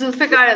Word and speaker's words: Zulfikar: What's the right pronunciation? I'm gonna mess this up. Zulfikar. It's Zulfikar.